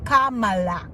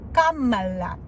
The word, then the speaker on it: Kamala: your next president so learn how to say it Kamala Kamala president mhm somebody's just